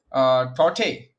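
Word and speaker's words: Tauktae: Tote, I think K is silent, so it's Tote, as someone told me yesterday in the chat.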